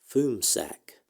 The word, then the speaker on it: FMSAC: and Space Analysis Center, which is abbreviated FMSAC and pronounced FUMSAC.